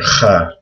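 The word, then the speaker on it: خاء: And this is also hard to pronounce. But people usually write a KH for kha. It's similar to, like in Hebrew, people say Hanukkah. It's the exact same sound in Arabic.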